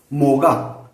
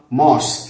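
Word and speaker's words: Maues: नावाने हे ओळखले जातात मोगा किंवा मॉस एम ए यु एस असं स्पेलिंग करतात त्याचं हा पहिला आक्रमक या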